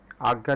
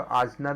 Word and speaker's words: आज्ञा: तो छठा होंगे, छठे में क्या है आपका आज्ञा चक्र कहते हैं इसको, इसको आजना भी कहते हैं, उच्चारण करते हैं, या आज्ञा चक्र या आजना चक्र।